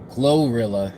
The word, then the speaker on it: GloRilla: this lady's name so this lady's name is glorilla it's spelled g-l-o-r-i-l-l-a all right so I've never heard